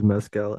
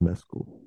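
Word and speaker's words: Mescal: I go to try to pronounce it I pronounce it a different I used to think it was mcal and then I heard him say his own name and it's pronounced mcul mesul yeah okay because he's Irish right so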